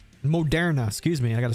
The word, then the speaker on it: Moderna: So weekly chart on Monera here, right? Moderna, excuse me.